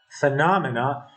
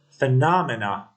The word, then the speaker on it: phenomena: other ideas and beliefs in the word phenomena Estus is on the letter N phenomena or since phenomena is